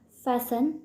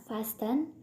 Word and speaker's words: fasten: Kemudian aturan ini juga berlaku untuk listen, not listen, fasten, not fasten, dan whistle, not whistle. Kayak gitu.